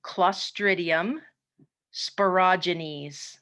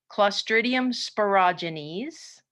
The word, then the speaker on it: Clostridium sporogenes: to bottom here the first one is called clostridium sporogenes that's how you pronounce that strange looking word clostridium sporogenes is a gr positive Rod so we haven't